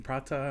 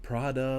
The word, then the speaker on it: prata: from a Raman uh you might have noticed my hard tea when I was pronouncing prata and that's because an old colleague used to make fun of me as I it's not Prada like the handbag it's not a designer it's food bro so maybe that colleague